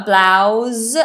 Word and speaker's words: blouse: um so we have a blouse and that's a zed sound a blouse for women